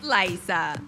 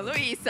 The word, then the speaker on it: Laisa: Y es Laiza, no Luisa. Laiza.